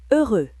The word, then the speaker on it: heureux: Heureux, X muet.